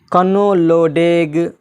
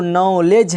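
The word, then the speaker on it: knowledge: जैसे एक शब्द है कनोलोडेग, अरे भाई क्या पढ़ रहे, कनोलोडेग, कनोलोडेग नहीं है वो, नॉलेज है, नॉलेज।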